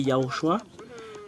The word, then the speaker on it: Yahushua: Voilà le nom original du Sauveur qui porte le salut, qui est Yahushua.